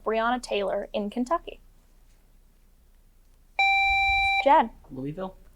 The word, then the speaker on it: Louisville: Louisville. Louisville is correct.